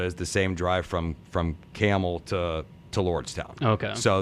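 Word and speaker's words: Campbell: It's spelled like the soup, but we don't say it. We and so the same drive from Okemos to Lansing Delta is the same drive from Camel to Lordstown.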